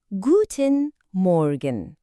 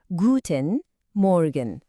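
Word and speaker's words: Guten Morgen: Guten Morgan. Oradaki R sesini duydunuz mu? Biraz gırtlaktan geliyor. Guten Morgan.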